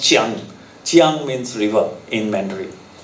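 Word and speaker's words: Jiang: Now, Kyang is actually pronounced Chiang.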